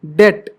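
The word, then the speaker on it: debt: बोल रहा है कि टी से पहले अगर बी आ गया तो भैया बी साइलेंट रहोगे आप ये डेट इसे डेप्ट नहीं पढ़ते बहुत से लोग डेप्ट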